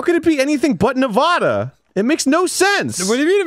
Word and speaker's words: Nevada: who pronounce it in Nevada seriously it's really awful but it's Nevada it's a Spanish word is it not whoo